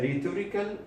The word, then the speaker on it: rhetorical: one is called a rhetorical question rhetorically question notice that this edge is silent so what is a